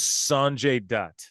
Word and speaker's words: Sanjay Dutt: His name is Sanjay Dutt.